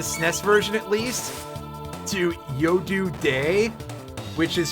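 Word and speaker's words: Yodu De: They changed their names in the SNES version at least to Yodu Day, which is spelled Y-O-D-U space D-E. It's a play on it being yo dude because they're peeking out from behind their shields, which I find that very funny.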